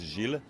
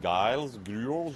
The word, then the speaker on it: Gilles: Usually when I say my name is Gilles, in French they are like Giles, George, Jay. So I like the British one, Giles.